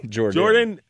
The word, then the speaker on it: Jordon: Jordan. Jordan. Should I say Jordon Hudson? Yeah, it's spelled Jordan, but it's Jordan, yes.